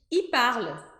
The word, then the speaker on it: il parle: a gente fala tão rápido que a gente não escuta o L. A gente vai dizer assim, il parle. Il parle. É como se fosse um I comprido, porque não dá tempo da língua pronunciar corretamente o L.